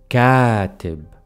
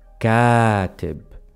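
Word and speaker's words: كاتب: and then we have catib writer catip I am intentionally extending the long vowel so make sure you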